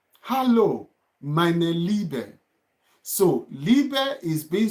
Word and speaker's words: Liebe: Hallo, meine Liebe. So, Liebe is being spelled as L-I-E-B-E. Liebe. That's love. Liebe. L-I-E-B-E. Liebe. Liebe. So when I and E is together, then it's also pronounced as E.